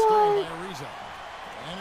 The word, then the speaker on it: Ariza: by Ariza. And it's Houston on the break. Oh, that's how you pronounce his last name.